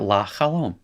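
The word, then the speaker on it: לַחֲלוֹם: So what happens is the cloak and dagger hey hides behind the lamed. And the schwa is out of the picture, right? The sleeping got sleeping pills or something in put in his drink and he's asleep now. So you got la chalom.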